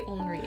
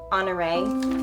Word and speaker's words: Henri: you're going to be Henri. I'm glad I know how to say his name now. Henri. Henri. Yeah, that's. I was thinking it was Honoré.